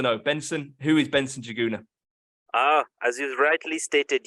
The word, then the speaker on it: Njuguna: Benson who is Benson jaguna ah as you rightly stated you actually pronounced my name very well joguna and uh so juguna is a Kenyan name I am from Kenya